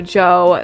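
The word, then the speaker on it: Djo: A lot of you guys might know Joe, that's how it's pronounced, DJ O.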